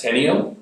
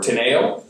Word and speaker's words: Teneo: This morning we're going to take a look at Teneo, or Teneo, depending on how you want to pronounce it. Ken likes to call it Teneo, I call it Teneo.